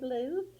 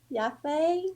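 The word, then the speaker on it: Liu Yifei: Her first name is Liu, I believe Lou, and then her last name is spelled Yifei. So Yafei, maybe I'm not Yeah, sure.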